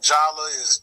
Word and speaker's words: Jhala: Like I said, man, Jala, Jayla really, but Jala that's how she pronounce it.